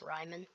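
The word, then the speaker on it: Raimann: shot at bernard ryman i've been saying it wrong by the way it's not raymond it's ryman um but i haven't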